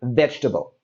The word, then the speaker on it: vegetable: Now, if we take a look at the word vegetable, we see that it has this extra E, this extra sound in the word.